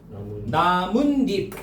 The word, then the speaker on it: 나뭇잎: 이거 어떻게 발음되죠? 나뭇잎. 니은 두 번 덧나네.